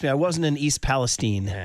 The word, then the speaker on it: Palestine: But trust me, I wasn't in East Palestine. Yeah, I think careful. it's Palestine is how you pronounce it.